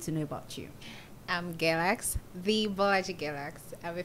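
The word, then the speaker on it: Gelx: Galax. What does Galax mean? It means, it's spelled G-E-L-X.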